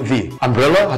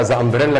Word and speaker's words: the: في حاله مهمه جدا لو ذا جه بعديها حرف متحرك لازم انطقها ذي يعني لو جه بعديها اي اي او يو اي لازم اقول ذي امبريلا هتبقى ذي امبريلا وهي ذا امبريلا كده شكلها انت حاسس في